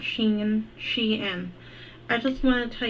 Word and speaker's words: Shein: Like for starters, when you say Sheen and Shine, I get annoyed. Yeah, it's Shein, I think. It is Shein, guys.